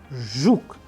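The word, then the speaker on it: жук: an English word approximation as we use R in the word pleasure, pleasure. And in Russian we have used another example like zhuk, zhuk. You pay attention to the pronunciation which I am doing here, so that you master this particular sound.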